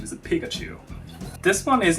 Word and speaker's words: Pikachu: name is Pikachu wait wait really yeah it's Pikachu that's how you pronounce it yeah no that poor kid I